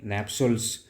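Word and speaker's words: nuptials: नेप्सल्स तो यहां पे नेप्सल नाम का कोई शब्द नहीं है। यहां पे नेप्सल्स ही होता है। नप्सल समटाइ्स इट इज़ नोन एज नप्स। नप्सल शायद प्रोनाउंसिएट करेंगे।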